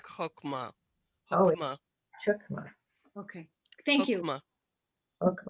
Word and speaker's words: Chokmah: Keter, and it's also chokmah. The ch is pronounced like chokmah.